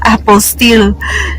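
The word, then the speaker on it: apostille: sa mga hindi nakakaalam kasi um pagkakaalam ko Apple Steel so Apple Steel pala pala siya So Madali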